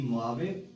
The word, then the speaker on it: Mojave: या ये ऐसे ही से लिखना जी, MOJAVE मोआवे, जे साइलेंट है जी यहाँ पे, मोआवे डेजर्ट है जी।